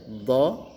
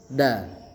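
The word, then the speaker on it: ض: Do. Jadi terdengar berbeda dengan suara huruf da. Nah, kalau da itu biasa kita da di du. Tapi kalau ini do d di du du. Jadi ada getaran di dinding pipi kiri kanan do.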